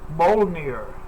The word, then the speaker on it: Mjolnir: Mjolnir, I think is how you pronounce it. Mjolnir? Mjolnir. But it has a J in it somewhere, which is kind of makes it like really, odd to say or whatever.